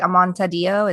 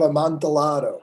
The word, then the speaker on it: Amontillado: Is it Amontadillo? Is that how you say it? The Cask of Amontillado. Amontillado. There we go.